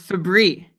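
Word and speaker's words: Fabbri: I am fairly confident that it's Fabry. Okay, so I will say Fabry, like the cleaning product, right? Febreze?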